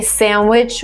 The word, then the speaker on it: sandwich: If you actually look at the dictionary, you would see that there is D in pronunciation of this word, but most of the time I hear it, people say sandwich without the D, and in British they just say sandwich, sandwich, I forgot